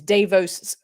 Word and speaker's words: Davo: like it that's a theory I love it Davos oh it was also I I actually I feel like people are mispronouncing his his name is David like if